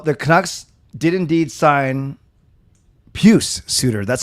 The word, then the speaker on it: Pius: sure you he he might be but it's puce peuce puce like pew pew s or or